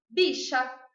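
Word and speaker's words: villa: Então, na Argentina, eles chamam favela de bicha, porque o V pronuncia como B, bi, e o 2 L's pronuncia como sh, bicha.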